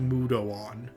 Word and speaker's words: Mudoon: it but it has use and then lastly mudon mudoon it it's pronounced mudoon deals medium magic damage and that is actually